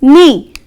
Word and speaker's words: knee: The first rule children, K is silent before N. For example, see the word knuckle, there the K is silent. Next, knee, here K is again silent.